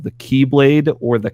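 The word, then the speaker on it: χ-blade: weapon that can open Kingdom Hearts called the keyblade or the Chi blade it's X filled with an expertise Greek X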